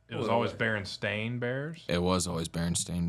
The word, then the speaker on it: Berenstain: Berenstain Bears, It was always Berenstain Bears. not Berenstein. It's Berenstain Bears.